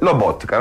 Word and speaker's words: Lobotka: Lobotka, la nostra fonte, la detta stampa della nazionale slovacca, quindi penso sia autorevole, si pronuncia semplicemente come si scrive, Lobotka, non ci inventiamo niente.